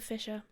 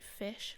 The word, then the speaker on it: fissure: don't know but anyway something called a Fisher f-i-s-s-u-r-e if you want to know how to spell it because otherwise it sounds like fish like fish swimming fish it's not fish fisher fisher um anyway so bleeding